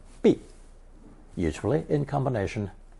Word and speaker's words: 臂: We encountered 手肘 in lesson 64, meaning the elbow, and now we have the arm, pronounced fourth tone 臂, usually in combination 手臂.